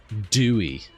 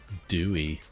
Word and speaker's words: Dewey: They pronounce the name Dewey. Really? Dewey. That's not what I would have expected, but okay. Dewey is very easy to remember.